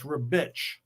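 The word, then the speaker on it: Ribić: don't believe it yeah a c in in his language and italian is ch so it's rebitch so all this time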